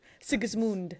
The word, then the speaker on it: Sigismund: Luckily, Sigismund, as I'm Luckily for told I'm me, supposed to pronounce it.